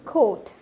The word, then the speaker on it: quote: একবার আমি দেখানোর পর যাতে আপনারা একবার নিজেরাই উচ্চারণ করুন। সো ইটস খোট, খোট।